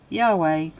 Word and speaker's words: Yahweh: in the synagogue while it is almost if not quite certain that the name was originally pronounced yahweh this pronunciation was not